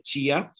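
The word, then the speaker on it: tia: palabras tía y día, no se dice tía y día en la mayor parte de Brasil, se dice chia y dia.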